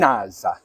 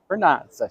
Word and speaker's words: Vernazza: Do it with the Italian. Vernazza. Vernazza.